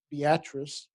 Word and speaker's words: Beatrice: They pronounce it Beatrice.